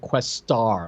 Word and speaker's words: Questar: And they pronounce it Questar, like they put like a big emphasis on the star part of it.